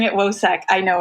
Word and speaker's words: WoSEC: We're pronouncing it WOSEC.